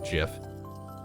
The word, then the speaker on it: GIF: even still being debated i can't stop saying gif and i don't think i ever will to the day i die i'll be a purist in the sense of quote unquote mispronouncing it i don't care that the inventor of the file format says jif he's wrong and i'll fight anybody who says otherwise not physically of course